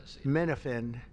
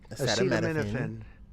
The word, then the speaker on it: acetaminophen: Couldn't even pronounce the name right. Menofphen, acetaminophen, is that okay?